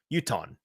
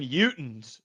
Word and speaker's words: Utahn: So it's just Uton. Not even Utons.